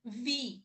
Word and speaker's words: wie: É, mais ou menos, ó, por exemplo, vi, né? O W-I-E, tem, a gente vai ver o alfabeto daqui a pouco, né? Então é vi, né?